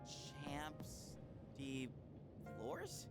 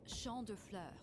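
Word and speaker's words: Champs de Fleurs: Champs de floors? Yep. How do you say that? Got it. It's Champ de Fleurs.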